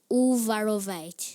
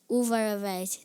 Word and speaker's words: Uvarovite: Am I pronouncing the word correctly? Uvarovite. Yes. Uvarovite.